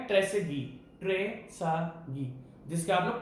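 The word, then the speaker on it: Trésaguet: है ये भाई साहब जिनका नाम है ट्रेसेगी, जिसका आप लोग ट्रेसेगुएट बोलते हो, क्योंकि इसकी स्पेलिंग में टी आता है, वो टी साइलेंट है।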